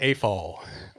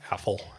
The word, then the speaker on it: AFOL: is brendan morrow and i am an a fall or some of my friends like pronounce it affl um what is an